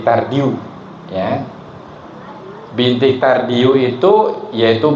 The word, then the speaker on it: Tardieu: bintik tard Ya tardieu tulisannya ya bintik tardieu tapi dibacanya bintik tardiu ya bintik tardiu itu